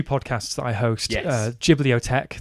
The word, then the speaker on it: Ghibliotheque: Ghibliotheque, that is spelled GHIBLITHEQUE, like discotheque.